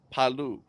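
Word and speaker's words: Palau: chance's brother we looked this up and it's palu we looked up the pronunciation to it um very cool next next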